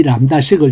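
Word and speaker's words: lambda: anonymous 함수를 만들 때 이 람다식을 적습니다. 어떻게 적느냐면 람다라고 적고, 원래는 그리스어로 이건데 우리 키보드에 람다가 없으니까 이렇게 적습니다. B가 묵음으로서 요거 꼭 들어갑니다.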